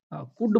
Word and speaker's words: could: और भी कहीं होता है साइलेंट, जैसे हम क्या बोलते हैं, डी से पहले भी रहता है एल साइलेंट। जैसे हम क्या बोलते हैं, कुड बोलते हैं, COULD।